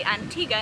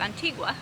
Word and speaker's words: Antigua: It's a beautiful panoramic view of Antigga. I learned that you say Antiga instead of Antigua, which would be the Spanish pronunciation.